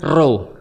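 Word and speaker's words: ρω: X dalam bahasa Yunan dibacanya khi oh ulangi. Khi khi ee dan P dalam bahasa Yun dibacanya row. Row.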